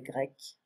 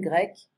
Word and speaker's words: grecque: La Grèce, il est grec, elle est grecque. So you see the spelling is different right here. It's the same pronunciation. Grec, grec.